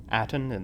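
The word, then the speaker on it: Atton: Aten, that's how you say his name, said her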